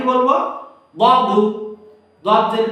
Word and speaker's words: ض: সেই হরফটা ছিল দদের উচ্চারণ, দদ।